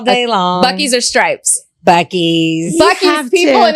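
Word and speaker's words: Buc-ee's: Bucky's. Bucky's have people, to. and it's not Boosie's.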